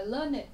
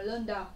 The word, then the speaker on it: learned: uyên có học thức, uyên bác, chúng ta đọc là learned. Ở âm này của chúng ta ấy, đừng đọc là learned, đó là it.